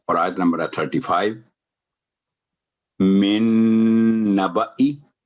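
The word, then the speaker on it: نَبَإِي: من نبئی، تو من نبا اگر کر دیں گے تو یہ غلط ہو جائے گا کیونکہ الف ایکسٹرا ہے، زائدہ ہے، کراس لگا ہوا ہے.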